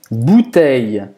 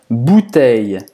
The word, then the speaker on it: bouteille: Para pronunciar esse bouteille, hein, esse EI, é como se fosse um I longo aqui.